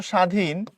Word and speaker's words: স্বাধীন: কিন্তু তুমি যখন এখানে বলতেছো স্বাধীন এখানে বফলার কোন প্রভাবই নাই।